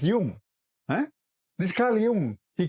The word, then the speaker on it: Jung: And all these guys, like this bloody Carl Jung, these Americans can't even say Carl Jung, they'll say Carl Jung. Bloody hell, learn to say his name, man. He's a Swiss guy. No Jung there, it's Jung.